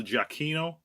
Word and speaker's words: Giacchino: Michael Giacchino, which I checked, I actually am pronouncing his name right.